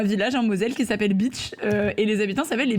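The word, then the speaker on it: Bitche: Salope est vrai, sauf que le village s'appelle Beach.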